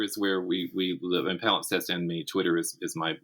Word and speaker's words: palimpsest: And Palimpsest, for all the trouble people have saying it and writing it down, it literally is exactly as it sounds and pronounced exactly as it's spelled. Palimpsest, Palimpsest.